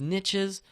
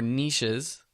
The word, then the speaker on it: niche: And that brings me to my next point, which is niches or niches. I've heard both pronunciations.